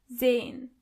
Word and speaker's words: sehen: sehen As you can see, the letter S is not pronounced as S, but more like z. So, you say sehen.